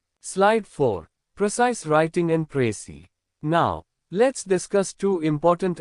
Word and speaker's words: précis: A prey pronounced prey is a concise summary